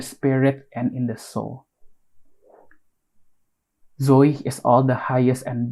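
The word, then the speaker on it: ζωή: Oh, dari Ibrani di sana the Greek word tuh for life tuh Zoe. I think I pronounced it right.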